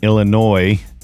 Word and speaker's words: Illinois: Now, the first one I did a year ago when I was up in Illinois, thanks to Mr. F pointing out that the S is silent.